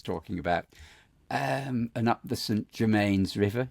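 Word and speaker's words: St Germans: And up the St Germains River. Is that how you pronounce it? Rather than St Germain? I think St Germains River.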